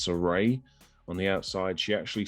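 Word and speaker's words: Sarray: mcmahon and nxt signing i believe it's pronounced soray on the outside she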